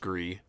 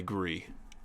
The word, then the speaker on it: Gris: It's a very artsy indie game called Gris or Gree, spelled Gris. Probably pronounced Gree.